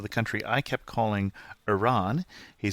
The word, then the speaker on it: Iran: country I kept calling Iran he says it's pronounced I as in Indiana I and ran as in run so it's Iran thanks kazim for that